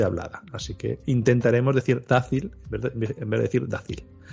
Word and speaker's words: Dácil: La primera es Dácil, con acento en la A.